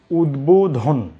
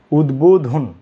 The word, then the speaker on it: উদ্বোধন: আমি এই পাশে লিখছি একটি শব্দ, এই শব্দটিকে আমরা পড়ি উদ্বোধন। উদ্বোধন। এই শব্দটিকে পড়ি বিদ্বান। আপনি প্রথম শব্দে ব উচ্চারণ করেছেন, এই শব্দে ব উচ্চারণ করছেন না কেন?